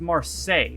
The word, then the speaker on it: Marseille: always we're gonna read some comments okay it's pronounced Marseille so that's the band that Neil Buchanan was